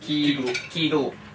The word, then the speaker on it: Kegel: Kegel, pronounced Kegel.